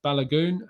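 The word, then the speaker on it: Balogun: please do tell me so it's balagoon and uh okafor so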